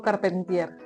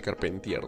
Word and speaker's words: Carpentier: Bueno, lo estamos pronunciando bien así, Carpentier, ¿no? Pero creo que es como que Carpentier, una cosa así, ¿no?